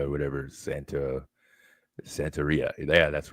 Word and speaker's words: Santeria: I think sangria or whatever. Santeria.